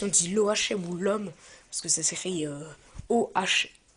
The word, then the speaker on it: l'homme: ça doit se dire l'homme parce que le H bien sûr ne se prononce pas normalement donc cette arme l'homme